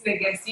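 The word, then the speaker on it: Ngasti: It's Nagasti, you got it right.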